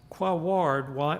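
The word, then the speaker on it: Quaoar: success here is that I pronounced Quawar properly. Very difficult if you look at the spelling of this KBO.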